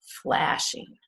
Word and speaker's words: flashing: it's two syllables flashing is the stress on the first syllable or the second syllable flashing that's right it's on the first syllable flashing flashing not flashing flashing